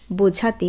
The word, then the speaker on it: beau: আমরা এই শব্দগুলো কিন্তু সাধারণত বলে থাকি মেয়েটি ভীষণ সুন্দরী বা ছেলেটি ভীষণ সুন্দর। সেই ক্ষেত্রে বো, বেল অর্থাৎ স্ত্রীলিঙ্গবাচক শব্দের ক্ষেত্রে বেল, পুংলিঙ্গবাচক শব্দের ক্ষেত্রে বো।